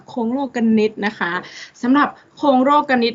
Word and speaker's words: โคลงโลกนิติ: ร้อง มาก นัก เรียน อย่า อ่าน ว่า โคลง โลก นิติ นะ คะ กู จะ ฆ่า ตัว ตาย เลย นะ คะ โครง โลกนิติ นะ คะ นัก เรียน จำ เอา ไว้ เลย ค่ะ คง โลก กัน นิด นะ คะ สำหรับ